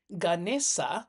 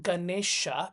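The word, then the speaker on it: Gaṇeśa: view you can say the s you see at top over there is pronounced as an sh so it is actually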